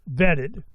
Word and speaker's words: VettID: Al Liel is the founder of Vet the Vet ID pronounced vetted.